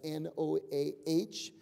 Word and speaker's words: Noahic: And so that's N-O-A-H-I-C, pronounced Noahic covenant.